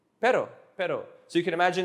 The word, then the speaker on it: pero: not as in like but but but it's pero pero pero so you can imagine a group of